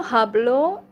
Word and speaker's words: hablo: no hablo uh the the H sound is not pronounced I think in Spanish the H like the letter H here it's not pronounced no hablo no hablo